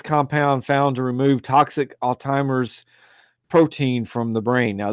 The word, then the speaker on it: Alzheimer's: I keep pronouncing it Alzheimer's. Everyone pronounces Alzheimer's, but there's no T in it. It's ALZHEIMER apostrophe S.